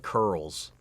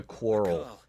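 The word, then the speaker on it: Coeurl: Final Fantasy until now they call it curls I always called it like a quarrel is it but they say curl Bank the founder from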